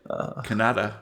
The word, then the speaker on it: Kannada: sir you read this so it's pronounced Canada Kannada so what's your opinion